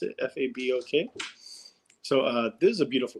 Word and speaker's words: Fabok: I think it's Fabok. That's how you pronounce it. Fabok.